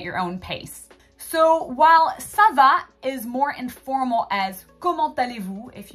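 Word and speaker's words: ça va: simply giving you that the sound C is actually going to be a s sound instead of a C Sound in front of that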